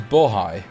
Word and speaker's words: Bohai: The A is like the O in Forest Frontiers. Haj is pronounced like high. So it's Bohai.